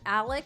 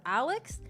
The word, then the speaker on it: Alec: the people that like pronounce the name Alec instead of Alex and Murdoch instead of murdahl because uh when the